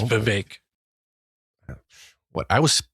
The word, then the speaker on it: Vivek: I think it's Vivek, like cake. Is it Vivek? It's spelled Vivek, Vek. So I know, but he's Vivek. Brown and he's Indian, so it's Vivek. What I was pronouncing it Vivek, and people were telling me